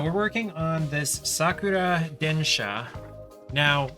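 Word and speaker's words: 電車: working on this Sakura densha now it's spelled densia on the um what's it called on the packaging and in the manual and everything but densha is the actual pronunciation in Japanese and then shot just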